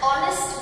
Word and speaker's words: honest: one rupee note dash honest man the word honest begins with the letter h which is silent we use the past